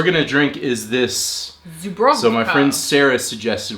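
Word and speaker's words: Żubrówka: Bison grass Zubrovka. Zubrovka. Vodka. Zubrovka. Vodka. Smakowa. Vodka. He doesn't remember that W's are pronounced like V's.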